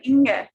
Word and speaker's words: Inge: she goes by Inge, Inge. INGE, German Inga.